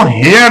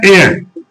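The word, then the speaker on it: heir: फिर देखो बच्चों यहां पर इज अब यहां एच इ आई आर इसको हियर नहीं कहेंगे। इसका बच्चों प्रोनाउंस होता है एयर।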